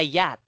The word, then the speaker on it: yacht: Okay, this one is silent CH. So only this one, yacht. Yacht. Okay. So yacht. Okay, this is the spelling. Not like this. Yacht. Yes, not like that. Okay, it's silent C and H.